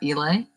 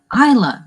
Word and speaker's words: Isla: Because it's an I. That's why. And you pronounce it like an E. The Elay. We both tried to snort that. And Isla. We both tried to snort the Isla.